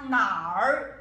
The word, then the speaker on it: 哪儿: Ou você fala nar, terceiro tom, zai nar, ni zai nar, ni men zai nar, cadê vocês, tá?